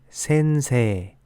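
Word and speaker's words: せんせい: 장음으로 발음하는 경우가 많습니다 예를 들어 선생님은 센이가 아닌 센세 평화는가 아닌 해 라고 발음합니다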